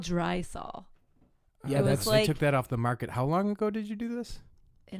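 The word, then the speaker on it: Drysol: Yeah, she's only dry sol rhymes with Lysol.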